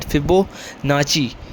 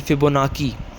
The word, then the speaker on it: Fibonacci: It's pronounced at Fibonacci or you can also say it Fibonacci. So it's depend upon your accent and your ease.